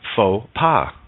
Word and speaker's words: faux pas: O does the work X is silent in faux pas yeah we've made it